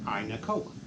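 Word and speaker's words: ay naku: you some laughs okay it's pronounced I Nicole I Nicole and simply means oh my god and you know we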